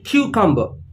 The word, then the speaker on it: cucumber: This is called in Hindi khira, but in English we call it cucumber. Cucumber. Again, the stress is on the first part of the word, cucumber.